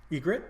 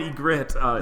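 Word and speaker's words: Ygritte: I'm going to need help with the name egit egit yeah egit egit uh let me write it out um it's spelled weirdly too but y g r r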